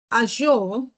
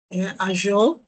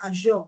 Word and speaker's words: Azure: We all know Azure, when we did discuss cloud computing before, Azure, and please take note that it's pronounced Azure.